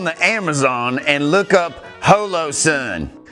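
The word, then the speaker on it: Holosun: Just get on the Amazon and look up Holo Sun. It's the same thing but cheaper. It's just as good. It's actually pronounced hollow and my site mark is of comparable quality.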